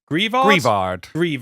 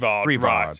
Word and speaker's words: Greavard: Which how are you pronouncing this? Greavard. Greavard.